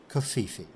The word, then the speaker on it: covfefe: President Donald Trump tweeted the words, "Despite the constant negative press, Covfefe." That is the proper pronunciation.